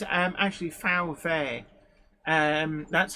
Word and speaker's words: VW: W is V um Germans pronounce a w like we pronounce v's and Germans pronounce V's like we would pronounce FS it's it's all it's